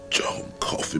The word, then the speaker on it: Coffey: John Coffey, ma'am. Like the drink? only not spelled the same.